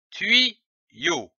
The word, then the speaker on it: tuyau: L'association de ces deux syllabes donne le mot tuyau, comme un tuyau.